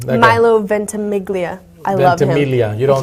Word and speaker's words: Ventimiglia: It's Ventimiglia. If my homeboy Joe Palmisano's watching, Joe Palmisano, if he's watching, he knows. You don't pronounce the G.